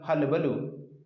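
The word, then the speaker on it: hullabaloo: एक चीज़ ध्यान रखिएगा, इसका प्रोनाउंसिएशन सब लोग गलत पढ़ते हैं, बहुत ढेर सारे लोग गलत पढ़ते हैं, करीबन 99% लोग गलत पढ़ते हैं। इस बात का ध्यान रखिएगा। कुछ लोग इसको हल्ला बोलते हैं, जो कि सरासर गलत है। इसका सही प्रोनाउंसिएशन हलबलू।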